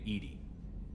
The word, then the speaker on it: EDI: airlock is a jar why are you named Ed Ed is the phonetic pronunciation of Eed that is an acronym for